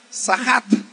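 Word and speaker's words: צחק: La palabra que aquí dice burlarse en el hebreo es una palabra que se pronuncia sahat.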